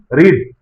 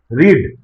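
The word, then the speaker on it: read: इसको जब simple past में करेंगे तो spelling would be same but there is a slight difference in pronunciation. Present form में अभी हम लोग इसको पढ़ते हैं ऐसे रीड। और पास्ट फॉर्म जब आ जाता है सिंपल पास्ट फॉर्म तो उसको पढ़ते हैं ऐसे रेड। रीड रेड।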